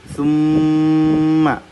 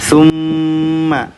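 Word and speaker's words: ثُمَّ: Nah, karena mulutnya ketutup, kita bacanya nafasnya melalui hidung. Jadi dengungnya melalui hidung. Summa, mim bertasydid kan? Lihat nih di sini nih. Mim bertasydid. Summa yumitukum, harus ditahan nih 2 harakat nih.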